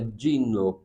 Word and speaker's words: Gino: italiana com Dino Pauli se escreve Gino G eh italiano se pronuncia de então é Dino paoli Sapore de Sale que